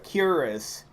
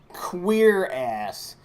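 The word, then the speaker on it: cuirass: it's popularly called a curus I've heard the actual historical pronunciation for a plate armor breastplate is queer ass like legit queer ass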